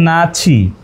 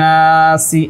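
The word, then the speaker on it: ناسِ: আমি যদি এখানে পড়ি ওয়ামিনান নাচছি কিন্তু আরবি কি আছে দেখেন তো ওয়ামিনান নাসি এভাবে আছে এখানে বাংলা উচ্চারণ কি দেওয়া রয়েছে ওয়ামিনান নাচি না তো আসলে নাসি আর না কত বড় ভুল আসসালামু আলাইকুম ওয়ারাহমাতুল্লাহ প্রিয়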